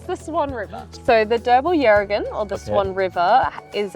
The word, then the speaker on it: Derbarl Yerrigan: So Derbarl Yerrigan. So in Noongar, the first syllable is what's accentuated.